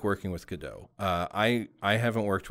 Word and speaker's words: Godot: had on the show who are working in godot um and it's it's pronounced godot not good dot not go dot it's good uh i just